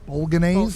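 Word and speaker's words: Bolognese: B their Bulan sauce Bulan is that how you say it B ban b g silent thank you B yeah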